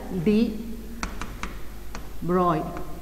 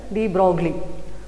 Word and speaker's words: de Broglie: is actually pronounced as de Broglie, it is not Louis de Broglie, it is the French name, but we say as de Broglie.